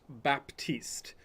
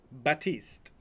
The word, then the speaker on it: Baptiste: this right it's not Baptiste like you want to say the P is silent so it's batiste that's how you pronounce